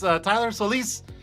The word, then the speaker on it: Solis: I don't say his last name often, but it's Tylor Solis.